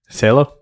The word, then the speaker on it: Cielo: Cielo? Cielo. Cielo. Cielo. Cielo. That's the That's the one you can actually sound it out and get right. It's one L, so it's Cielo.